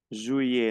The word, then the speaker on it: juillet: Juillet. No pronuncio la T, las dos L como una I.